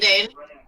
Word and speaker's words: Zayn: buddy we're cool man zayn rhymes with bane it does hopefully he's